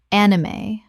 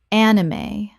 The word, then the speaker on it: anime: Kaizen Kaizen Word 212, anime. Common mispronunciation, an-i-may or an-im. Correct pronunciation, anime. Three syllables with the E pronounced at the end.